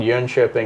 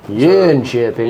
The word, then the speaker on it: Jönköping: It goes to a city called Jönköping in Sweden. Jönköping? Yeah, spelled with a J.